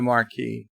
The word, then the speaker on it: Maquis: it the barky the marquee is correct just because there's an S and it's a silent s Cinnabon bunny said hello